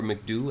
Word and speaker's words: MCDU: I was saying I'm at the point where I'm ready to start programming the MCDU or McDo. I've heard it pronounced both ways, so you can call it however you want.